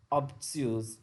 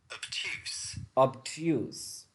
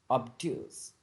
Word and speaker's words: obtuse: get less they will be regarded as socially obtuse or absolutely arrogant or simply stupid arrogant or